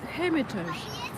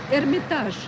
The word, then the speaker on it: Hermitage: It's called Hermitage. Uh you know the word Hermitage in Russian. Um it it's um it is pronounced as hermitage.